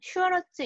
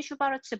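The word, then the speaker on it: Schwarz: 그 아랫줄에 보시면 슈와르츠 이니퀄러티라고 되어 있는데 이것은 우리가 코시 슈와르츠 이니퀄러티, 코시 슈바르츠 부등식이라고도 부르고 코시 슈바르츠 부등식 또는 뭐 슈와르츠라고 읽기도 해요.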